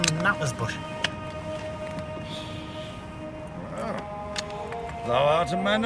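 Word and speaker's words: Knappertsbusch: Vienna Philharmonic, conducted by the name Knappersbush. Well, thou art a man of taste. Keep it up. Incidentally, we pronounce it Knappersbush.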